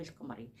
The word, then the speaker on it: القمر: الاسم اتفقنا وتضبط بالسكون نقول القمر بص لي شوف لساني عمل ازاي القمر نطقت اللام ووضحتها وسكنتها دي اللام القمريه يبقى اللام